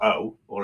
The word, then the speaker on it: OO: Is it double O or is it OO? How would you? I'd say it's double O, as in double O, double O.